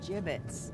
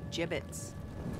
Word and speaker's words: gibbets: had some gibbets leftover Jim it's what it's pronounced jib 'it's are you sure Jim its wait is